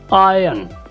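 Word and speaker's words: iron: थोड़ा कॉम्प्लिकेटेड है क्योंकि इसमें कोई आर को साइलेंट पढ़ा जाता है और ये थोड़ा डिफ़िकल्ट होता है, कुछ लोग इसको प्रोनाउंस नहीं कर पाते, तो इसको हम थोड़ा देख लेते हैं। इसको हम पढ़ेंगे आयरन, आयरन, आयरन नहीं और ना ही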